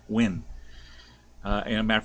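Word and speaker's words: Nguyen: my videos you'll understand when is spelled kind of funny in vietnamese it is n-g-u-y-e in i don't know and they say it they pronounce it when uh and a matter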